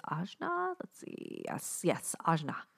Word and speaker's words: ajna: let's see yes yes ajna it's pronounced ojna a j n a